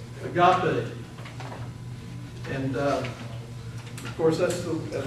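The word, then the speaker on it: ἀγάπη: Just take the letters and pronounce them. And most times in the Greek language, a word is pronounced phonetically correct. Just pronounce it the way it's written. Agape.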